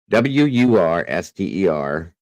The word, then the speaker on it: Worcester: Easy for us Brits to pronounce it. I bet it is, actually. It's Worcester. Worster.